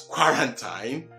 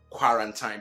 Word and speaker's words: quarantine: So those of you who want to pronounce QUA as qua, and thus erroneously been doing it in this word as quarantine, well, which we have learned is not quarantine, but what? Quarantine.